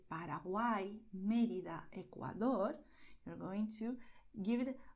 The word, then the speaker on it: Ecuador: You see, by Ecuador, the tongue does D with a lot of contact and slowly, and then does dor. This R at the end is really quicker, okay? Ecuador.